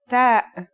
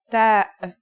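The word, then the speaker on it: ت: The pronunciation is like the English T, except you should release your breath with a strong burst of air. Try it. Ta. Here's how to write the isolated version. Ta.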